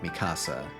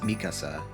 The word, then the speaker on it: Mikasa: people I mean even people who watched the subs primarily sort of defaulted to pronouncing it masasa so I guess that probably is just an American thing or like an English thing but in Japanese I know it's pronounced Mikasa so which is kind of how I so that's how I pronounced it um um I